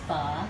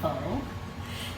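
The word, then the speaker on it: phở: And for my friends that are not Asian, like Brandon and Cara, it's pronounced pho, not pho.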